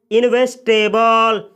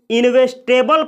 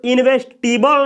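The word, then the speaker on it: investable: इन दोनों वर्डों को इन्वेस्टेबल पढ़ा जाता है, इसको इन्वेस्टिबल नहीं पढ़ा जाता है, नहीं तो ये गलत उच्चारण हो जाएगा। इसका करेक्ट प्रोनाउंसिएशन होता है इन्वेस्टेबल और इसको भी बोला जाता है इन्वेस्टेबल।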